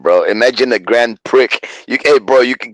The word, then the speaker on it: Grand Prix: not you said, the Grand Prix? yeah, that's what it's rumored to be called. The X is silent on that one. Yeah, bro, the X is silent, bro. Imagine a Grand Prix.